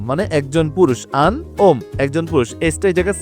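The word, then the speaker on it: un homme: ওম বাট এ কষেত্রে যে liaison হচ্ছে Yoon উচ্চারণ হবে আন আন ওম মানে একজন পুরুষ আন ওম একজন পুরুষ এটা জায়গায় সাইলেন্ট ও থেকে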